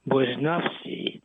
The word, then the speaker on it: Barnowski: And I'm so pleased that I have the opportunity to have Jen Bnowski, who by the way in Polish should be pronounced Bonavski.